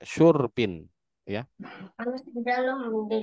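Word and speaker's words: شُرْب: Syur bukan syarab, Pak. Syurbin.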